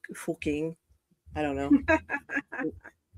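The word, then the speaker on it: Fucking: That's a And then of course there's an entire town in Germany that's called surprise pronounced fuking.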